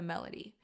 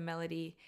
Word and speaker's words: melody: The reason why I like starting with a melody is because certain words have certain accents. You know, what's a great example? Melody. Melody. The accent is on the beginning part of the phrase or of the word.